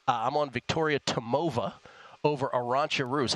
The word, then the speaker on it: Arantxa: I'm on Victoria Tomova over Arantxa Rus. How do you pronounce that, Kelly?